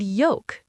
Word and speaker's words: yolk: And yolk, the yellow part of an egg. Y O L K. Yolk. No L.